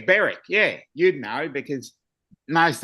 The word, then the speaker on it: Berwick: Pronounced what? Hoik. Hoik? Well, we've got Yeah. We've got one Berwick. That's Berwick. It's Berwick.